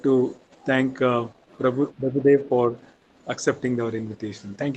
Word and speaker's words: Prabhu Dev: Prabhu Deva. Small correction. It is my name. You are pronouncing that name wrongly. Please, it is not Dr. Prabhu Deva.